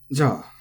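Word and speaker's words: じゃ: So this, of course, is high-low, ja, as many interjections are. But what I want you to keep in mind, and this isn't actually part of the pitch, but in different uses, this can be ja or ja. Hear how it sort of bounces back up, ja versus ja.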